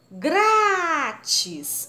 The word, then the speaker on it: grátis: Grátis. O grá é a sílaba mais forte, é acentuado, paroxítona.